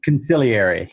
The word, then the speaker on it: consigliere: is CEO can say consigliere right am I saying it right it's like The Godfather conciliar II yeah there we go right so so